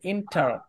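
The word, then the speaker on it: enter: থাকলে ইন উচ্চারণ হবে ইন্টার ইন্টারের উচ্চারণ হবে আর উচ্চারণ আর এর উচ্চারণ আপনি করেন সমস্যা নাই আর এর উচ্চারণ করবেন এখন ইন্টার ইন্টার আপনি যদি ইন্ঠা বলেন ইন্ঠা ইন্ঠা তাহলেও হবে আর এর উচ্চারণ যদি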